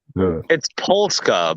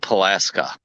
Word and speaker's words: Polska: It's Polska, by the way, not Pulaska.